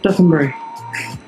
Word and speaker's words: Dotonbori: Dotonbori.